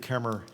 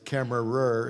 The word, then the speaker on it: Kemmerer: I'm the City of Kemmer Administrator, and I can relate to Paducah because Kemmerer is kind of how it's not pronounced. Actually, we have a silent er at the end.